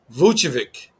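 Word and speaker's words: Vučević: they shouldn't have much problems with this team vuchevik yeah that's how you say his name uh nicola vuchovic yeah there we go uh to do for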